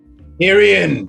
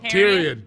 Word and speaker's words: Tyrion: tyrion the typewriter kurt hirian please pronounce the name properly oh tyrion tyrion excuse tyrion like game of thrones okay here we go